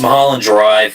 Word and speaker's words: Mulholland Drive: I just got done with Mulholland Drive, I believe it's pronounced. Yes, Mulholland Drive, which is a local weird movie, but it's Lynch.